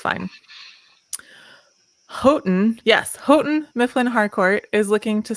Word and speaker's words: Houghton: get it wrong so it's fine houghton yes houghton mifflin harcourt is looking to sell its trade